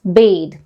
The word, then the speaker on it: bathe: taking a bath then we refer to it as pronounce it as bathe she bathed her baby